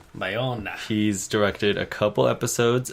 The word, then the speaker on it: Bayona: looking up the pronunciation of his name. Yes. He's a Spanish filmmaker. Okay. Also, Bayona. Bayona.